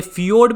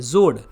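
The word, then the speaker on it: fjord: ये फियोर्ड भी कह देते हैं और जोड भी कहते हैं, एफ साइलेंट हो जाती है, जोड।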